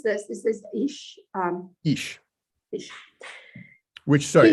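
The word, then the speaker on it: איש: How do you pronounce this? This is Ish.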